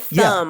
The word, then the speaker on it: thumb: So I trick you up with thumb, huh? Silent B is gonna get you.